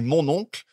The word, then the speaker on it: mon oncle: censé être français et en français on dit mon oncle et donc le mot mon oncle prononcé à la française ça ressemble beaucoup à mon ocle et que ça pourrait